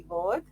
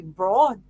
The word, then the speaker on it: Board: all about you Lucy Bor um I actually got your name wrong the first time because I thought it was Lucy braa yeah yeah I think